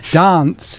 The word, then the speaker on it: dance: I was brought up poshly, so I pronounce my A's. Dance.